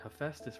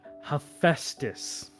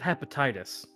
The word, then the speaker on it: Hephaestus: child said instead of Hephaestus? No. Looked at how it was spelled. How do you think I said it? I'm gonna guess you pronounced the P. No, I said hepatitis.